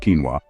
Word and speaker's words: quinoa: Number 4, quinoa, pronounced quinoa, is a complete protein,